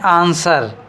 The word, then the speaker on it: answer: बात कर रहा है तो हम W को छिपा देते हैं।